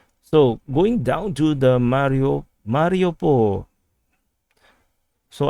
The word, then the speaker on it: Mariupol: So going down to the Mariupol. So I actually learned how to pronounce this as Mario, Super Mario, Mariupol. So, previously I pronounced this as Mariupol. So that's very Singaporean way of pronouncing this.